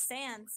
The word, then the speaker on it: Sans: And then they're like, no, it's Sans, like the font.